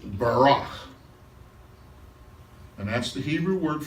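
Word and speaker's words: בָּרַךְ: Barak, Baruch. It's usually pronounced Barak.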